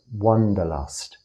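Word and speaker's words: wanderlust: pronounce it one Wonder wonderlust not Wonder as in w o n d e r Wanda as in wandering around w-a-n-d-e-r this is my language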